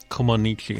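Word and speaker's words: Comăneci: Comaneci. How many times did you have to hear that before we went on air? Did you know that's how it's pronounced?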